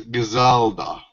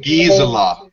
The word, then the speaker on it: Gisela: Oh, she pronounces her name Gisela. I'm sorry. She pronounces her name Gisela.